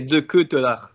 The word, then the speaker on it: De Ketelaere: Écoute, personnellement, on prononce, enfin ici, dans moi en tout cas, tout ce que je connais, c'est comme ça, c'est De Ketelaere. Donc c'est De Que, tu vois, De Ketelaere.